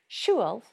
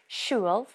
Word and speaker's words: siúil: when talking about travelling, siúil, travelling or travel, is that the L sound at the end of the word siúil changes depending on its use. Siúil by itself ends with a broad L, siúil.